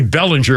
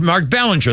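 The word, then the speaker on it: Belanger: it's by the way it's be should be Bellinger but but it's pronounced Mark Ballinger that's why everybody called him Mark Ballinger I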